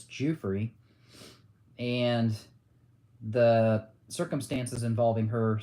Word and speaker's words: Giuffre: A lot of people don't know how to pronounce her last name. It's not Giuffre, it's Giuffre.